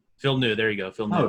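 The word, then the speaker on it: Villeneuve: last year yeah it is denis it's denis villeneux phil knew there you go phil oh damn well yeah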